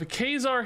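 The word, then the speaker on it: Ka-Zar: money in the game Kazar kesar by the way I get a lot of people who tell me this is not pronounced kesar I have video evidence of kesar himself pronouncing it kesar I used to have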